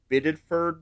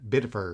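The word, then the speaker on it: Biddeford: and killed by an ICE agent in uh Biddford, Maine. Is that I'm pronouncing it? Uh Bidford.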